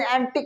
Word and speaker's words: antique: अब देखिए जो नवा हमारा वर्ड है वो क्या है, ANTIC और ANTIQUE दोनों का प्रोनाउंसिएशन एंटिक ही होता है, एंटिक।